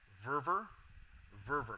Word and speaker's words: Verver: Verver, like fervor.